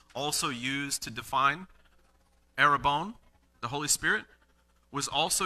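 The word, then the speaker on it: ἀρραβών: that was written that was used here was a robon it's actually pronounced in the original language not that i'm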